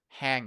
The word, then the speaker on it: hang: It's a bit tough, hang, because it's not Ha- like g. Yeah, there is the nasal sound. Hang out. hang. Hang, but without the g at the end.